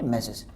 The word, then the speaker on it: M/s: M/S, जिसको हम pronounce क्या करेंगे? मैसेज.